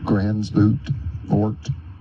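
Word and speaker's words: Gansevoort: Grant Cottage National Historic Landmark in Gransvoort, New York. You can pronounce it Gansevort, New York.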